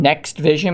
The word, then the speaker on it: NXT Vision: here for something called nxt vision next vision maybe is how that's meant to be pronounced and it says here